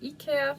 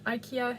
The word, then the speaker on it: IKEA: IKEA, depends where you live, how you pronounce it. At home we call it IKEA, but I know IKEA is normally how people say it.